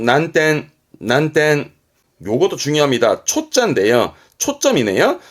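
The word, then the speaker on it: 難点: 시텐 시텐 요거는 어려울 난자 어려운 점이죠 난점 발음은 난텐 난텐 요것도 중요합니다 초짜인 초점이 초점이라고 어떤 가지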